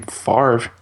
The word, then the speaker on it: Favre: Favre pronounces his name Favre.